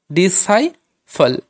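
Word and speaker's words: disciple: ডি আই ডি এস, আইটা হলো ওই আইটা লং সাউন্ড হয়ে গেল সাই, ডি সাই ফল, ডি সাই ফল।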